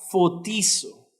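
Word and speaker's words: φωτίζω: la palabra iluminados aquí viene de un griego que se pronuncia cotizó qué significa esta palabra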